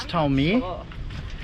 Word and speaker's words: Tolmer: If that's how you pronounce it. it is Tolmer.